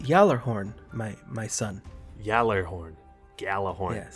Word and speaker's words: Gjallarhorn: No, you're not mistaken, and it is pronounced Gjallarhorn, my son.